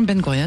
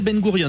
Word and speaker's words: Ben Gourion: Bureau de vigilance contre l'antisémétisme et président de l'association Ben Gouron. Merci d'être venu partag aujourd'hui. Vous prononcez Ben Gourion donc c'est la bonne prononciation he parce que tout à l'heure j'ai dit ben Gouron.